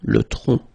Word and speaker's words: tronc: Le tronc, okay, remember, final C is not pronounced here. Le tronc, okay?